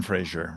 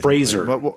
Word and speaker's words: Fraser: Brendan Frasier, right? That's right. Fraser. Fraser. Well, whatever. Sure. Whatever. Is that what you called this show on NBC? Fraser. Well, that's No, it's spelled differently.